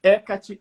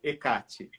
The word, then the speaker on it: Hécate: com CF Art Conca hécate ou hecate a pronúncia é independente isso vai depender muito da região aonde a deusa oito toada região onde ela está sendo cultuada Por que existem muitos